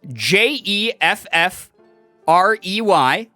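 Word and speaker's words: Geoffrey: but then some times jeffrey is spelled g-e-o which insinuates that the sound g-e-o makes would make the same sound as j-e not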